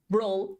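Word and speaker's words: brød: Coal, that's meat, or brawl, that's bread. Brawl, I always, it's like you're disgusted, but the D is pronounced in Danish, so it's wonderful.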